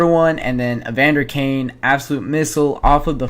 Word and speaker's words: Evander Kane: uh that made it 4 to1 and then Evander Kane absolute missile off of the face off makes